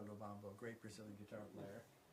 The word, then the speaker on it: Lubambo: Ours in Portuguese are pronounced H. So my friend Romero Lubambo is actually Romero Lubambo, a great Brazilian guitar player.